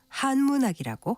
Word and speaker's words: 한문학: 참고로 한문학은 첫 음절을 길게 발음해서 한문학이라고 합니다.